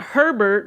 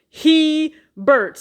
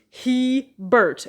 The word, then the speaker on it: Hebert: pronounce the name correctly it's not herbert because it's not h e r he bert literally h e and bert he burt okay second thing third